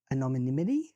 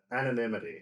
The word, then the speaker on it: anonymity: Anomonymity. How do you say that? Anonymity.